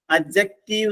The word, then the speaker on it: adjective: അഡ്ജക്റ്റീവ് എന്നേ പറയാവൂ. അവിടുത്തെ ഡി നമ്മൾ സ്ട്രെസ് ചെയ്യരുത്. അഡ്ജക്റ്റീവ് എന്ന് പറയരുത്, അഡ്ജക്റ്റീവ്.